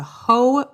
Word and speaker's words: Hoh: Reason number 1 that you need to go to the Olympic National Park is the Hoh Rainforest. That's spelled H-O-H.